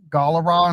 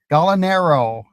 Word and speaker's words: Gallinaro: I've got a very, very special guest in the house, Miss Gallinaro. No, oh, I knew I was going to say it wrong. Gallinaro.